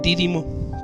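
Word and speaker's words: Dídimo: al que le apodaban dírimo vivimos no recuerdo exactamente dónde van acento en la primera dírimo dos primos era algo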